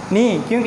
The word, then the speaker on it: knock: सो नॉक, ये भी नॉक है, इसमें भी जो के की जो फर्स्ट के है उसका साउंड जो है यहाँ पे वो साइलेंट हो रहा है, ओके।